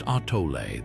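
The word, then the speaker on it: atole: Atal pronounced artoé, this ancient beverage was far more than just a comforting drink.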